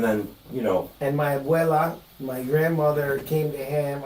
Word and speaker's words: abuela: You mispronounced abuela, but yeah. Ebola. I said Ebola.